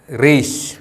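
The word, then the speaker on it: ܪܝܫ: റീഷ്. ഈ അക്ഷരത്തിൻ്റെ ഉച്ചാരണം റ്.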